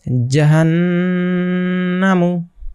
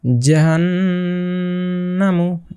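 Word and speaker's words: جَهَنَّمُ: তাহলে কি কি দাঁড়ায় জাহান্নামু জাহান্নামু এখানে এই যে নুনের উপরে তাসদিদ আছে যার জন্য এখানে গুন্না ওয়াজিব হয়ে গিয়েছে তো এখানে গুন্না অবশ্যই করতে হবে জাহান্নামু এখানে যদি থামতাম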